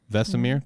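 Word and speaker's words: Vesemir: and a fellow witcher vesmir is that how you pronounce it vesimir did i nail it vesamir thank you i was close i did all right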